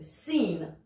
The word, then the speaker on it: scene: Le C, parfois en milieu de mot, ne sera pas prononcé non plus. A scene. The scene.